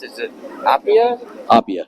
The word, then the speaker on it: Appia: really four yeah yeah and how do you pronounce it it AIA Opia M yep yep and gato is the coachwork